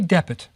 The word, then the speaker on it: dpt: let's say call it Depit. We'll put it in a little short E so it doesn't sound like Swedish, Depit, or whatever. So we'll say Depit.